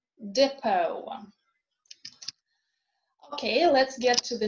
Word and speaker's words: depot: It is also not pronounced in a way recently borrowed words from French, as in bouquet or depot.